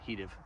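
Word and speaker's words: he'd've: and the newest one, Heative. Heative. I try to always say it like Microsoft Office would have said it to you.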